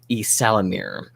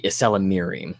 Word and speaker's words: Ysalamiri: They are a member of a reptilian kind of lizard-like species called the Ysalamir, or the Ysalamiri, if we're making it plural.